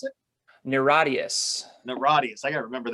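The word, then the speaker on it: NIRATIAS: new record one more time how do you pronounce it niradius the radius i gotta remember that great record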